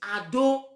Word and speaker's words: Edo: Because that word Edo, the real pronunciation is Ado, which is the bastardized generation of Oromia.